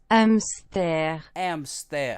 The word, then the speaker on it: hamster: comes in but anyway here's how you say hamster in French yeah amster how do you say